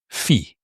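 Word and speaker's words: πι: Then we have the P, which in mathematics, in English you pronounce it pi wrongly. It's actually called P, and the P is exactly the sound of play and Paul, so it's a P sound.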